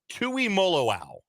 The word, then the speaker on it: Tuimoloau: By the way, it is Tuimoloau.